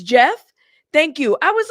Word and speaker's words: Geoff: pronouncing it is it I've heard people say g off or Jeff I've heard it interchangeably that's why I was like but thank you storm for saying it's Jeff thank you I appreciate